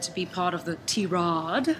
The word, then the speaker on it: Tirade: be part of the T-Rod. Yes, not tirade. Not tirade, right? Yeah, because that's the way we like to say it. T-Rod. But I guess it's just the way that the word is spelt.